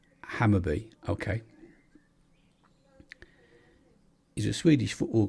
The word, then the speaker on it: Hammarby: so Hammarby football or Hammarby pronounced hammer be okay he's a Swedish